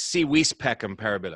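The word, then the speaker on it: Si Vis Pacem, Para Bellum: as a i'm sorry the v is is pronounced with a w but you're interested man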